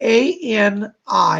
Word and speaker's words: Ani: She spells it A-N-I, and she pronounces it Ani.